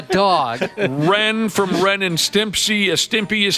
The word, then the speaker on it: Stimpy: he's not a dog Ren from Ren and Stimpy a Stimpy is how you say it Hong